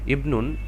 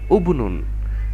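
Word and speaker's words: ابن: আছে থার্ড ওয়ার্ডটা তো এখানে তো আমার উচ্চারণটা এরকমই হওয়ার কথা ছিল যে উবনুন কিন্তু না তা হয়নি আমরা এই হামজাতুল ওয়াসাল টাকে জেড দিয়ে ইবনুন পড়েছি যার অর্থ হচ্ছে ছেলে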